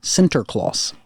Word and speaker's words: Sinterklaas: Now, Sinterklaas.